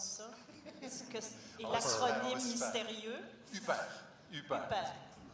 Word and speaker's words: HUPR: UPER. Comme Isabelle Huppert, mais pas d'Isabelle.